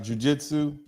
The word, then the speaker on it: Jiu-Jitsu: a picture up earlier starts with a J sounds rhymes with flu right Jiu-Jitsu and the thing about